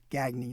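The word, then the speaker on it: Gagné: Quebec in those days the gagy family pronounced G then gagny now filled an entire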